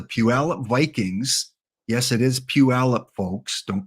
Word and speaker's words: Puyallup: Yes, it is Puyallup, folks. Don't pronounce it any other way.